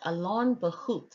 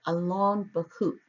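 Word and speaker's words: Allon Bachuth: So the second name is pronounced Alon Bahut according to the Strong's Concordance online.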